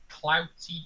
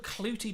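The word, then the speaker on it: Clootie: me for the pronunciation cloudy dumpling oh clooty dumpling blue fluffy dumplings absolutely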